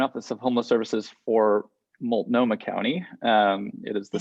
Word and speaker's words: Multnomah: uh the joint office of homeless services for multnomah county um it is the city of portland and multnomah county in oregon um first of all thank